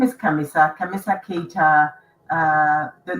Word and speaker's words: Khamissa: it's gonna be pronounced Khamissa. So the H is silent, but they will say Khamissa, and Khamissa in Arabic means actually the 4th.